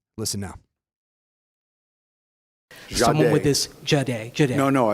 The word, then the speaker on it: Jahdae: But um but I think it's Jade.